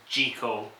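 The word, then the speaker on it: Jiko: It's in the Animal Kingdom Lodge where we're staying, but we are going to go to Jico, the cooking place.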